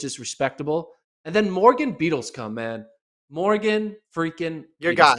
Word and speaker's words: Beadlescombe: And then Morgan Beadlescombe, man.